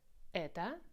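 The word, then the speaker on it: это: things what is it stoeta store means what ETA this is or is this Toyota be careful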